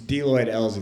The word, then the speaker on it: DeLoyd Elze: kind of stuck out to me, so it's DeLoyd Elze. That's actually how you pronounce it.